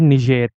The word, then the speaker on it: Niger: in the west n Niger it is actually pronounced at ner because ner this country was initially under the